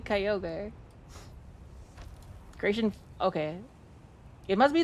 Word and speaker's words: Kyogre: the the one that Kyogre and Groudon and Ray Kuaza belong to.